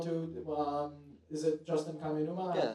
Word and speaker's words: Kaminuma: Um, is it Justin Kaminuma? Yeah, it's my name. Okay. Yeah. Uh, did I pronounce that correctly?